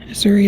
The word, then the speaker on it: Suri: Suri is a very unusual name, and it rhymes with my son Yuri.